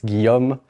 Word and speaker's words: Guillaume: Yes, I know you are wondering how to pronounce this name. It's Guillaume, but you can call me if you want.